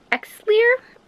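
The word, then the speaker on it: Xlear: if anyone actually cares it's called xar it's like clear but it is spelled with an X hi guys I was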